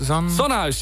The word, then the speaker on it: Zonnehuis: Yes, yeah, we're playing at, it's Zonhuis? Zonhuis, yes. Zonhuis. Okay, I wasn't sure if I pronounced that.